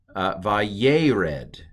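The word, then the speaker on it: וַיֵּרֶד: So this is vayered is how this is pronounced, this first word on the second line.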